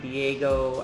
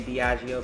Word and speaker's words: Diageo: has came up before some people may pronounce it Diego I say Diageo because I'm just pronouncing every um letter that's in the name and um he has